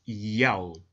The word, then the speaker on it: Yahweh: In order to help the reader pronounce God's name correctly, they transliterated the Most High's name with the Greek characters Iota, Alpha, Omega, written in Greek, pronounced Yahweh.